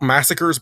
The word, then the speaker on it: Massacres: they call themselves that it's spelt massacres but it's pronounced mass acres speakers yeah yes and